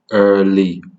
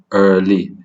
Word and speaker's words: early: Next word is early, early. Note that I'm actually saying or pronouncing the R as well.